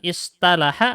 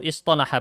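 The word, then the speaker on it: اصطلح: Lebih mudah mana? Menggunakan istalaha atau istolaha pengucapannya? Sekolah. Istolaha. Pakai to lebih mudah pengucapannya.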